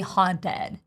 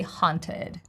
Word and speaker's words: haunted: I would not say haunted. I would say haunted. So it's even unnatural to put a flap T here.